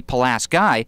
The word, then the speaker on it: Pulaski: Terry called the county palas guy because that's how they pronounced it in his native New York when he came here